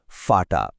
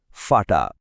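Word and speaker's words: Vater: যেমন বাবা শব্দটার জার্মান হলো ফাটা। এখানে দেখুন ভি এর উচ্চারণটা ফচ্ছে। চলুন একসাথে বলি ফাটা। আরেকবার ফাটা।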